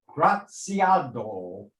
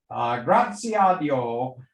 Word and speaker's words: Graziadio: she's a graduate of pepperdine's graziado i'm sorry for that mispronunciation there graziadio business school mba program